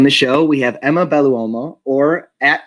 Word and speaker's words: Belluomo: the scenes so let's all welcome em emma baluomo how did i do that name wow phenomenal pronunciation i give you major props because a